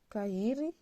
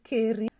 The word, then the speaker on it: kairi: Vous voyez, lorsqu'il y a deux voyelles qui se suivent, tu les prononces. Ici, tu ne vas pas lire keri.